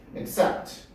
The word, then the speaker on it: accept: 위에 점 찍혀져 있는 건 강세입니다. 거기에 발음을 강하게 넣어서 하는 얘기야. 그래서 accept, accept라고 발음하세요.